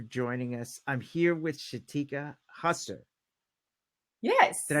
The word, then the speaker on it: Shateka Husser: I'm here with Shateka Husser. Did I Yes.